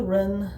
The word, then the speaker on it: Wren: uh so winter wren uh w-r-e-n uh i don't know if i might be pronouncing it wrong uh because i'm pronouncing with the with uh what i think the w is silent uh but either way